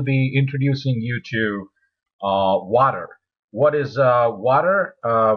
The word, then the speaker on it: Watir: a t r um is pronounced as water um now um now